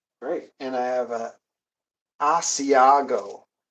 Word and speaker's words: Asiago: And I have a Asiago. Used to pronounce it with a Z, Asiago, but I guess that's not the United States pronunciation.